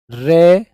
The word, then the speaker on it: ऋ: संस्कृत भाषा का स्वर जिसकी उच्चारण ध्वनि रे प्लस ई होती है, जिसे हम री बोलते हैं, है ना।